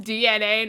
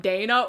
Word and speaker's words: DNA: like DNA and I was like, oh, it's pronounced DNA, not Dana.